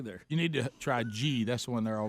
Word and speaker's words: ghee: Oh gosh, here comes our ghee expert.